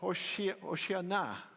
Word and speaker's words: Hosanna: Hosanna is a Hebrew word pronounced Hoshiana, and it comes from Psalm 118, verse 25.